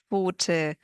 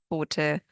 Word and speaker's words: Pfote: We pronounce them as one sound, like in Pfanne, Pfote, Apfel, Napf, Krapfen.